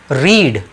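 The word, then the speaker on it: read: हैं नेक्स्ट बहुत important रीड ध्यान दीजिए तीनों स्पेलिंग सेम है लेकिन साउंड बिल्कुल अलग जाएगा रीड सेकंड वाले का आप जो साउंड लेंगे वह साउंड आफ लेंगे रेड यह साउंड आएगा रेड और थर्ड वाले का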